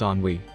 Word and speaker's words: ennui: It's pronounced ennui, roughly.